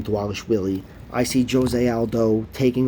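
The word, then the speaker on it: Dvalishvili: Walsh Willy that's how you say his name dwallis Willy I see Jose Aldo taking over this fight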